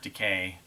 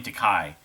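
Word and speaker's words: Takei: obviously kirk uh george decay i believe it's decay people say his name to kai uh when sulu and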